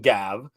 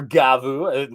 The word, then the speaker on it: Gavv: leaks if you will regarding gav or gavu depending on how you want to pronounce it so we can just